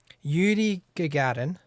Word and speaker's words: Yuri Gagarin: yuri gagarin that's how you pronounce his name did a p on the